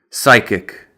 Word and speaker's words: psychic: Other words with the silent P include psychic, which is a person that claims to have non-physical or supernatural powers.